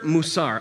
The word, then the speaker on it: musar: for ethics virtue or ideals is this word musar I looked it up that is how it is pronounced discipline or teaching is what that says